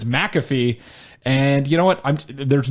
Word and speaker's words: McAfee: that for the last 5 days that it's McAfee.